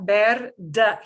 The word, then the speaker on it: verde: We've got verde. Here's this D. First D will sound like a d, but the last one is hanging off the end. So that last D hanging off the end will sound like a th.